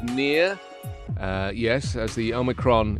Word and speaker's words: omicron: the bbc world service and uh they're saying omicron and they have a pronunciation department you see they have like literally